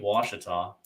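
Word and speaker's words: Ouachita: of the Twisted Cat Outdoors series to Lake Wachita. It took me 6 months to figure out how to pronounce it, but I've got it down now.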